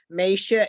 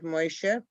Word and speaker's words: Moshe: words, the way we pronounce certain names, Mesha instead of Moshe, and religiously, that many of our ancestors were influenced by the Vilna Gaon rather than by the Hasidim.